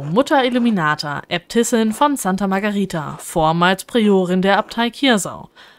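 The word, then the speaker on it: Margherita: weiche ausgesprochen das H das H hat im italienischen auch keinen Klang also es ist lautlos so also es wirklich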